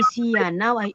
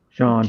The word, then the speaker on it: Sean: brother Sean. I will Might not be. mention your name by Sia. Now it's Sean. Sean. Okay? Yeah. Yeah, No, because it's always correcting. It's Sean, not Sian.